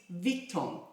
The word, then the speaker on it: Vuitton: the louis vuitton patika i always pronounce it as louis vuitton and my french friend keeps correcting me it is victon i hope i got it right again i haven't touched